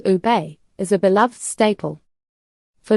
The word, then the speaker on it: ube: This striking dessert originated in the Philippines, where the ube, pronounced ube, is a beloved staple.